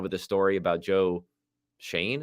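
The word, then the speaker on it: Schoen: the story about Joe Shane I think you pronounce his name even though it doesn't look like that uh Joe Shane there you know from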